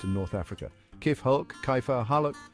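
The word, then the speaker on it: كيف حالك: The K sound in Arabic is pronounced further back in the throat than in English.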